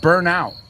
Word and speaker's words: burnout: They get burnt out or they burn out. And I know you use the word burnout. Lo he visto en español escrito. ¿Padeces de burnout? Pues primero se pronuncia como una E, esa U.